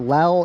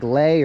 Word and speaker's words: lei: People in the comments, they were saying that I was pronouncing it wrong, so apparently it's not lel, it's like lei or li.